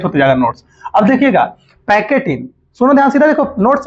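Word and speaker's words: pachytene: सुनिएगा ध्यान से, PACHY, पैकेटिन। पैकेटिन स्पेलिंग सही है ना जी?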